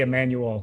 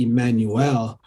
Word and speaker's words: Emanuel: Is it Emanuel? Emanuel. How do you say? I say Emanuel. Emanuel. Okay. And so unlike our Hebrew brethren who would say Emmanuel, you just say Emmanuel.